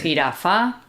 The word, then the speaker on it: jirafa: so it shares the same sound as the G when it's strong. So it's the J sound. Yeah. What's important to note is that we are talking about pronunciation here in Spain. In some other countries, the J will be a lot softer than it is here. Here in Spain, it's quite a strong sound.